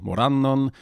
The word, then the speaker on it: Morannon: And then the result is down here, and you see that it's stressed on the second syllable, Morannon.